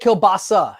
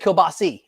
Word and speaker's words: kielbasa: what is it kabasa I always said kielbasa and you just said kielbasi is it either way is it either way A's eyes it's all the same yeah sorry and then